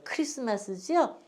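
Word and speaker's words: Xmas: 크리스마스죠? 그래서 아니 선생님 이게 X인데 이걸 왜 크리스라고 읽어요? 이제 그때 우리 저기 저 질문하시는 아버님이 계셨어요. 왜 그러냐? 왜 X를 엑스마스로도 읽지만은 왜 이걸 크리스마스 이렇게 하냐?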